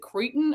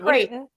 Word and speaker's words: Creighton: Seton Hall at is it Creighton or is it Cretan or what is it? Creighton. Creighton? Yeah. It looks like it should be Cretan. I spell everything phonetically.